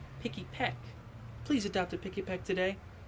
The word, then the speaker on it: Pikipek: I said the name wrong. Pikipek.